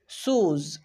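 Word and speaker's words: shoes: এবার আমরা দেখব ও ই এর উচ্চারণ কোথায় উ হয়। শুজ, শুজ, একটু ভালোভাবে লক্ষ্য করো, এখানে ও ই খুঁজে পাচ্ছি, ও ই এর উচ্চারণ হচ্ছে উ।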